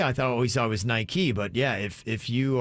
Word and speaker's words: Nike: the brand nike is pronounced nike after the greek goddess of victory in mythology and chairman philip knight